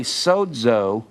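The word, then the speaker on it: σώζω: And it's pronounced DZ when you say sozo. S-O-Z-O, the Z is pronounced DZ. You hear me say saved? Sozo, it's pronounced that way.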